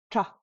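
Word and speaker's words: ཀྲ: The same is true with karata being tra. Now, tarata being tra, that makes perfect sense. But why is karata also pronounced tra?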